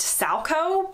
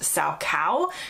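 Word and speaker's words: Salchow: is a jump, which in the UK is typically pronounced salco, but in the US is typically pronounced salcow.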